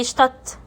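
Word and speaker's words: Stadt: اه في اخر الكلمه الدي تي الدي تي المقطع ده لو جم مع بعض في اخر الكلمه زي اشتط اشتط هل انا نطقت الدي لا نطقتها تي على طول يبقى الدي تي نطقتها تي اشتط اشتط حرف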